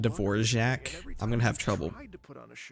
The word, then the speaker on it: Dvorak: I'm so sorry Shin yen that's how you pronounce his name Dvorak I'm gonna have trouble saying people's names in